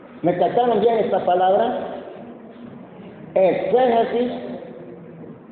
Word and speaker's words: exégesis: Exégesis se escribe con X. Exégesis, pero la palabra la voy a decir más despacio para que me la casten, ¿verdad? E se Jesús.